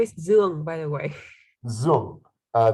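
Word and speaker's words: Duong: is by the way zum uh the d-u-o-n-g is zoom u-o-n-g yes okay right and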